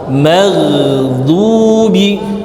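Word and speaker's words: المغضوب: Kemudian ghairil ghain ngalir. Ngalir satu harokat. Maghdubi. Du tebal maksimal. Maghdubi.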